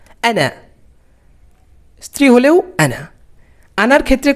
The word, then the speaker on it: أنا: আনা, আনা টান দিয়ে বলা যাবে না, এই আলিফের উচ্চারণ নেই। আনা।